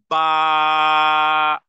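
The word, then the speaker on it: ba: তে এবার টান দিচ্ছি বা উচ্চারণে এক ধরনের ধাক্কা দিতে হবে বা উচ্চারণে কি করতে হবে ধাক্কা দিতে হবে এবং দুই ঠোঁট বন্ধ রেখে এরপরে বা বলতে হবে দুই ঠোঁটকে আগে একত্রিত করতে হবে তারপরে দুই হারাকা পরিমাণ টেনে যখন বলবো বা বা দুটি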